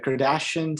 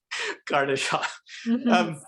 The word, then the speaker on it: Kardashev: But just kind of going back to I always can't pronounce the name, the Kardashian scale or something like that. Oh, which one? The one about the type 1 civilization, type 2, Oh, type 2. Kardashev.